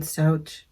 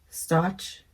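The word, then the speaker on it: Stauch: Oh my gosh, have you guys been following the Gannon Stouch? I want to say it correctly. Stotch case with that freaking step monster, Letitia.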